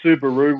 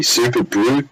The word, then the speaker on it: Subaru: It's not how it's pronounced. Someone said it sounds like something Plugger would say when he's happy. Super brew. Subaru, yeah. It sounds like Subaru. I thought it was Subaru because it looks similar.